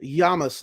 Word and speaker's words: Llamas: Llamas, like tortilla with the double L.